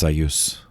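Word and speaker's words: Sieyès: know now that uh the surname say a s-i-e-y e-s i've also heard it pronounced sayus sayus but say whatever liv from 1748 to 1836.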